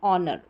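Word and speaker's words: honor: कुछ अन्य वर्ड्स में एच साइलेंट रहता है, जैसे कि यहाँ पर है ऑनेस्ट, और आर या आवर करके भी इसको प्रोनाउंस करते हैं, और ये ऑनर।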